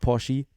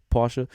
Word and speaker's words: Porsche: And in fifth, then the Puff Motorsports Porsche, not Porsche, Porsche.